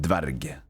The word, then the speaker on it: Dverg: That's at least how you say it, dverg. Dverghold. It's like dwarf, but cool.